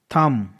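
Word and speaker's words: thumb: एम बी एम के बाद बी है इसलिए साइलेंट है लैंप लैंप का मतलब होता है बकरी का बच्चा मैं ना थंब थंब मतलब होता अंगूठा क्रम सी यू सी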